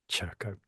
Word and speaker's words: Szurko: And um, Christian Szurko, did I get that right? Good Szurko, enough. good enough. You told me the We'll get the you there. the SZ at the start is like push chair, Szurko.